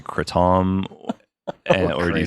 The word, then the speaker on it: kratom: do you look like an asshole and say kratom, or do you say kratom like an American and say it wrong?